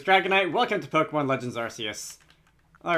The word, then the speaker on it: Arceus: out of the way I'm like 95 sure that the Canon pronunciation is Arceus is an arc but I think Arceus sounds better so I'm gonna go with that now I wish to